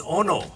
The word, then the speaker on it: ono: It is ono.